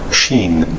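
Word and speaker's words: שׁ: 따라서 왼쪽에 붙으면 여긴 sin이라고 했는데 sin, sin 이제 이렇게 쉬가 되지 않는 그 sin, 시옷 발음 비슷하고 shin, shin. 요게 붙으면 이렇게 발음 기호에서 s 길게 늘린 shin으로 되는데 그 히브리어 알파벳이 몇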